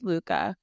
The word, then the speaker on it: Sluka: Yes, Sluka.